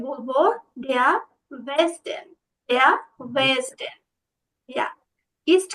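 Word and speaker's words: Westen: বলেন তো দে আর নর্ডেন জুডেন ইয়া দেয়ার বেস্টন আবার বলুন তো এটা বেস্টন ভেস্টেন ভে হবে না ভাইয়া বেস্টন হ্যাঁ আপনি যখন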